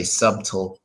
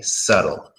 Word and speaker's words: subtle: of that nature but we just say subtle subtle is that simple subtle right don't pronounce to be that's basically all you